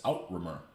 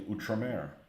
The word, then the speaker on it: Outremer: I'm like, oh, that's Outremer. Nope, and it's actually Outremer. But once I saw that and put two and two together, I'm like, oh, okay, well, I'll just call it Outremer for now.